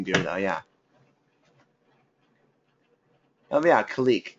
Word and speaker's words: Kalik: Oh, yeah, Kalik. K-A-L-I-K, for those asking, I think.